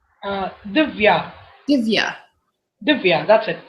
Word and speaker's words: Dhivya: Divya. Divya. Divya, that's it. My name contains just only two syllables and it's very easy to pronounce.